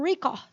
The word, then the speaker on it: record: Seria uma sonoridade como record. Record. Tanto é que quem gosta de joguinho, né? Os bonequinhos ficam record, record. Quer dizer, a sílaba mais forte é o ré, na antepenúltima, né?